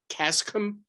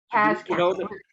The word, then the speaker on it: Caschem: Is it pronounced the Cascom? Caschem. Caschem, it was a chemical plant.